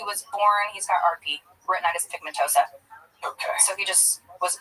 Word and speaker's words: retinitis pigmentosa: Retinitis pigmentosa. I know it sounds like a Harry Potter spell. Retinitis pigmentosa.